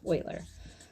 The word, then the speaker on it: Euler: thought it was pronounced euler but it's actually pronounced euler okay so this man euler euler came up